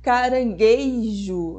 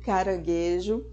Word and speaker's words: caranguejo: em vez de abóbada pronunciar carangueijo no lugar de caranguejo e o famoso mortandela